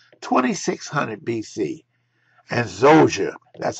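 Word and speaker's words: Djoser: r 2600 BC and zoa that's how we pronounce it the D and the J we call it Z Zer and motet designed and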